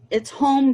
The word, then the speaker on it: HOM: It's home, but it's spelled H-O-M. Home.